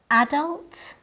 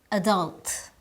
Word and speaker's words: adult: are common internationally but their pronunciation may vary depending on the dialect list listen carefully and try to identify the differences in pronunciation adult adult detail detail garage garage vaccine vaccine both ways are correct they're different but correct in English you